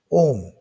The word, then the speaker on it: 옴: 자, 이 물리량에는 단위가 그리스 문자 오메가를 쓰고 읽기는 사람 이름 OHM, 옴이라고 읽습니다. 자, 기호는, 자, 아까 저항체의 기호는 이렇게 한다 그랬죠? 그럼 그 위에다가 R, 옴 이렇게 답니다.